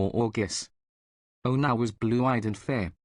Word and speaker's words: Jurgis: One, pronounced Jorgis.